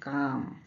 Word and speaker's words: calm: जैसे बाम, BALM, बाम में L silent है क्योंकि ए के बाद एल है, इसीलिए यहाँ पे एल साइलेंट है। बाम, बाम means N ointment. काम, CALM, काम, काम मीन्स स्टिल, क्वाइट।